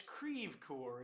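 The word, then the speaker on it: Creve Coeur: lot better when it's creev core isn't it i think so yeah that's what they call it in peoria yeah although that's not the french pronunciation of course i don't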